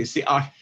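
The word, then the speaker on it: Si'ahl: So it's very difficult to pronounce his name as it was spoken. And there's slight variations, as I mentioned, too, over time. But basically, Siach is how you would pronounce his name amongst Native people.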